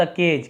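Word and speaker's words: cage: कुछ देर सोचने के बाद शी टूक हर parrot out ऑफ द केज।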